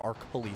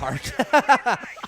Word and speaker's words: Arculi: Zaka is Kelly, or Arculi, sorry, not Arch.